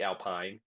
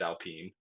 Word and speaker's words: Alpine: So first off, we have the Alpine racing team, spelled like Alpine, but it's Alpine Okay. because they're a bunch of French bastards.